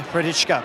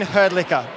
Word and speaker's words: Hrdlička: The new president of Tennis Australia, Jane Hrdlička, and also CEO Good pronunciation there. Oh, I should have said it the way she told me to say it, right? Jane Herdlicker.